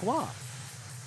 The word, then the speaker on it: Roy: Speaking of Patrick Wah, Tyler Royce, favorite goalender growing up, Patrick W. Roy Wah makes sense, right? Spelled the same, said differently.